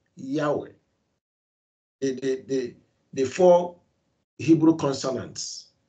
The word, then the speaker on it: Yahweh: Living Yahweh, we are, pronouncing that tetragrammaton, the YHWH, as Yahweh. You call him Yahuwah. I don't think Yahweh will be angry with you at that, but we must get it right.